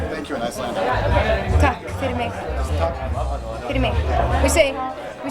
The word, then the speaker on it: Takk fyrir mig: Takk fyrir mig. Fyrir mig. We say thank you for me. So it's tak Very ego language. Takk fyrir mig.